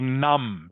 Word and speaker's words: numb: like or saw or or saw or numb. Do you know this word numb? Numb. N u mb. It is spelled numb.